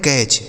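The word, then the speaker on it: catch: तो इसे पढ़ेंगे दोस्तों सी ए से पढ़ा जाता है कै और यहां टी जो लिखा है ना यह साइलेंट होता है मतलब इसे नहीं पढ़ा जाता ठीक?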